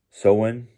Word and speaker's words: Samhain: She helped me pronounce the Norse pagan Halloween day. It's Samhain. Sounds like Samhain, something like that.